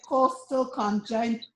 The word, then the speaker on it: costochondritis: And you called the name, you said Costochondritis. Chondritis. Okay, can you spell that for me?